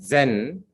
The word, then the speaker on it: Zen: And subsequently in Japan, it is pronounced as Zen.